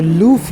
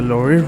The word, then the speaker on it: Louvre: For the next stop we went to the Louvre Museum. It's you know, pronounced in many different ways. The Louvre Louvre Museum or Louvre Museum. I would rather call it the Louvre Museum.